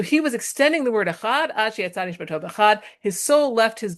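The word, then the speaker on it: אחד: You extend the word echad, and the dalet is it's pronounced differently. Okay, so he was extending the word echad.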